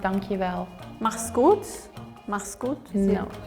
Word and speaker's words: dankjewel: So it's pronounced dankjewel.